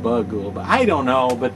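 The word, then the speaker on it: Bughuul: g h uu L although it's they pronounce it in the movie more like Bou than bugou but I don't know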